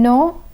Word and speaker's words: non: The M in minimum is pronounced, but the M in non is silent.